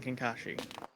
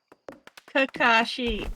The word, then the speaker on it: Kakashi: Thirsting over a video game character is like you and Burb thirsting over like Kenshin and Kankashi. Kakashi. Say it right or don't say it at all.